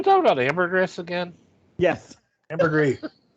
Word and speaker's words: ambergris: about ambergris again yes ambergris over i couldn't say oh the s is not pronounced hey jeff did you